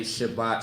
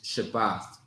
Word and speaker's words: Shabbat: if you ever uh if you ever see people say shabbat shalom that that not that's not accurate all right it's shabbath shabbath is how you say Sabbath in Hebrew okay all that shabbat shalom